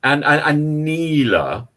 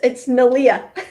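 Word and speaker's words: Neleh: And Neela. Have I got her name pronounced correctly? No, of course not. It's Nalia.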